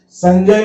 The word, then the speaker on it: संजय: संजय में ज के पहले बिंदी है तो ये य का उच्चारण करेगी।